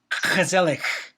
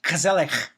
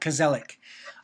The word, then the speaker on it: gezellig: And I guess the real pronunciation is gezellig. You got to get some k's in there. It's gezellig. But we'll call it gezellig, which is Dutch for